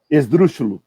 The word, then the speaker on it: esdrúxulo: Acentuado na antepenúltima sílaba. Tá vendo? Dreslúxulo, por exemplo. Esdrúxulo é uma palavra, proparoxítono.